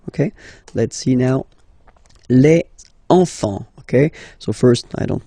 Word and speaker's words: enfant: Don't pronounce the T, you don't pronounce the S. Enfant, okay?